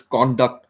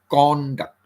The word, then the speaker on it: conduct: His conduct was bad. His conduct was bad. Conduct. We stress on the first syllable.